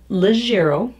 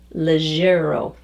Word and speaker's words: leggiero: to practice it and work on it so legero spelled l-e-g-g i-e-r-o legero the the word the pronunciation describes exactly what it is it's a